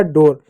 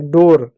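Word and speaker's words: door: आर से होगा र हो जाएगा डोर। यहां पर ऊ का उच्चारण नहीं करेंगे।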